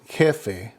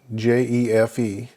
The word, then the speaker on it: jefe: Kind of interesting because we just saw that the H is silent, but the J, the J, makes the H sound in Spanish. Now, an example would be jefe, J-E-F-E, jefe, that is a boss.